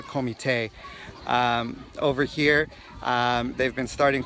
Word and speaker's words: comité: We call them a comité. That's how they pronounce it in Portuguese, a comité.